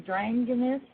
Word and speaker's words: Dranginis: bill dragoness are you there bill yes thanks for having me on ok now how do you say your last name drained in this DRAM get us banging oh good welcome anyways